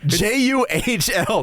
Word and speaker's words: Juhl: It is spelled with an H. differently. It's a hool. It's a guardian. Juhl, not H-U-U.